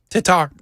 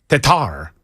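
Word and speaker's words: Tetart: How would I Hey, hey, Jackson, you're our official pronouncer. T E T A R T and it's French. Tatar Tatar.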